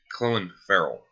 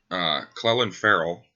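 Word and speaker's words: Clelin Ferrell: Farrell out of Clemson I apparently seem to be the only one that knows how to pronounce his name I mean that's cuz I actually watched a few Clemson games last year Cleland Farrell as he wants to be called is a very good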